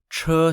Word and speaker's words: che: very end of the board are called chur cher spelt c-h-e and cher means chariot in chinese